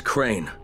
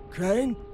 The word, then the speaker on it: Crane: store no my name's crane crane crane rhymes with train and brain and S and Grain